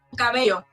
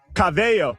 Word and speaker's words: cabello: Cabello. Cabello. Let me get one more. Pero es que corazón, hair, no se pronuncia corazón.